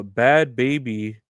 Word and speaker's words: Bhad Bhabie: on the news uh bad baby I'm pretty sure that's how you say her name even though it's got hes in it bad baby reveals she